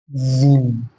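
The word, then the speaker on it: جيم: হবে, সা, সা, সা, জিম, এটা উচ্চারণটা মোটা হবে জিম, জিম, হা, এই উচ্চারণটা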